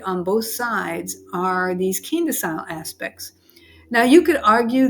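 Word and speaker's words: quindecile: And by the way, people pronounce that Quinta Chile too, but I always pronounce it the keen-decile. So I don't know what the correct pronunciation is, but keen-decile is what I say.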